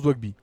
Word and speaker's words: Doigby: Ça se prononce Dwagby.